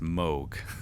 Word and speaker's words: Moog: I was corrected by a friend earlier today that it's pronounced Moog.